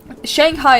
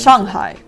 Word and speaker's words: Shanghai: Yeah, like for example, oh, Shanghai is the biggest fucking example of this because Shanghai is not how you pronounce it in Mandarin. Mandarin is Shanghai.